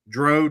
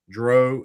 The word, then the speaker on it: Drow: You either say it like cow or you say it like snow.